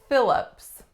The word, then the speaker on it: Phillips: on me Phillips Phillips two syllables strongest syllable is the first Black's a fit and the second syllable whoops schwa Phillips Phillips in this one I'm sure you can hear that the pH makes the the F sound as is really customary with that letter combination our next one we